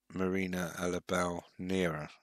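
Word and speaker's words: Marina Alabau Neira: And it's Marina Alabau-Nera. That's how you pronounce it.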